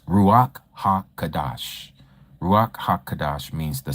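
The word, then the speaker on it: Ruach HaKodesh: So if you hear someone say ruak ha kadash. Okay. You may hear people pronounce it ruaka kodesh.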